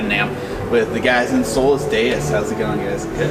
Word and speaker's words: Solus Deus: We're at NAMM right now, or outside NAMM, with the guys in Solus Deus. How's it going, guys? Good. What's up, man? Good. I pronounced that right?